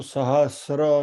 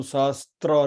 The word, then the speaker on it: सहस्र: Remember, it is Vishnu सहस्र नाम, not Vishnu सहस्त्र नाम। प्रोनाउंसिएशन में ध्यान रखिएगा।